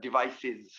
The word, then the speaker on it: devices: And to us, this is pronounced devices. Devices. Yeah, generally, when we have an S after an S sound, because this is like an S sound disease, devices, kisses, boxes.